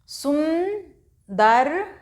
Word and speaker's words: सुंदर: सुंदर, सा में ऊ की मात्रा लगाई और इसको थोड़ा सा इसका नाक से उच्चारण किया जाता है, इस बिंदी का।